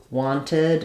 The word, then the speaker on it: wanted: says where so that knowing that it does say wanted it does say the ID sound here but it only happens when the verb ends with a T or a d most of the time